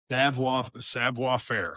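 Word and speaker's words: savoir-faire: Savoir Faire.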